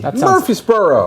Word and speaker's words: Murfreesboro: about the witness from Matt in Murfreesboro Tennessee Murphysboro that's a madeup Place Murfreesboro home of the